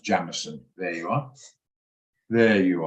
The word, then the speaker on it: Jameson: It's actually pronounced Jamison.